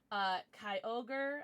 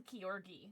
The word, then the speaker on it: Kyogre: Kyogre, I think is how you're supposed to pronounce it, but I used to pronounce him Kyorgi, so I know that's wrong.